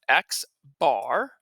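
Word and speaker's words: x̄: Now this X with a bar across the top, that is pronounced X bar.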